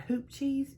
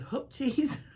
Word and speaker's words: hoop cheese: in it usually it's hoop cheese spelled h-o-o-p some people would pronounce that hoop cheese you would be wrong that is hope cheese don't you love like